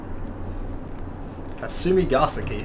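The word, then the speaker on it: Kasumigaseki: all right now beep beep beep beep beep kasumi gasa key that's how you pronounce it yes I could speak Japanese I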